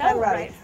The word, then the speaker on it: Hanratty: In fact, Mike Hanratty, is that how you pronounce it? I believe so. Hanratty.